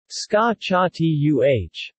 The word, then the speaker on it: scacciata: The word scacciata is pronounced scacciatuh and can also be